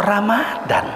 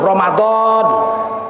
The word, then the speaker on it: Romadhon: di bulan suci Ramadan kok Ramadan Ramadan sama aja nya itu tulisannya Romadhon kalau Ramadhan tulisannya romindal ro mimdal bacanya Ramadan beda Romadhon bulan suci bulan Allah Romadhon itu nama Allah Syahru Romadhon bulan Allah sedangkan Ramadan artinya sakit mata yang sudah hampir buta di nyanyi-nyanyikan pula tuh